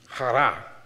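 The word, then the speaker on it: χαρά: So if we go into the Greek, right, and say this word with me, chara. I'm going to say it like you're about to spit something up.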